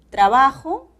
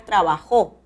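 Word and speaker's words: trabajó: ortográficas la siguiente serie tenemos dos formas de pronunciar estas palabras trabajo no o también puedo pronunciar trabajo el acento va a la última sílaba y es necesario la tilde de la aguda estudio palabra grave y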